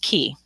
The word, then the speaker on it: cay: i named it the key to soul awakening it's it's pronounced key all right topics today